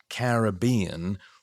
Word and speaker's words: Caribbean: The name Caribbean with the primary accent on the third syllable somehow says everything.